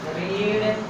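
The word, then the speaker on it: read: पहले इज एमआर में से लगेगा इज, बुक वर्ब लगेगा, रीड, रीड स्पेलिंग वही रहेगी लेकिन उच्चारण चेंज होगा। रीड रेड रेड, is book रेड।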